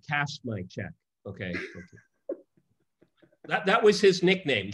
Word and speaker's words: Chiang Kai-shek: sense that there was theoretically a coalition between Chiang Kai-shek and Mao, at least during the war. I mean, so there was supposedly and I think you should pronounce his name correctly. Kashmai-chek.